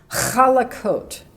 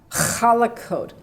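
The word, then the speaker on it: חלקות: after smooth things and just listen now to my pronunciation which isn't going to be perfect but I think it'll help kalla coat let me say it again Kollek coat kalach is slippery or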